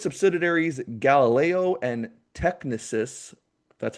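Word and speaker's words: Technisys: and pretty much through its subsidiaries Galileo and Technicus that's how you say it SoFi owns the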